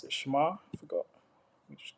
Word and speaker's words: Shamir: Shamar. I forgot. Let me just get the pronunciation. Shamir.